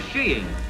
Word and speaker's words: skiing: popular of winter sports is sheing and skiing is the correct pronunciation they tell us yeah